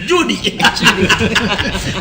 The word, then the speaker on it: Judy: il faut prononcer bien, il faut mettre l'anglais. Judy, il faut utiliser l'accent anglais. Judy.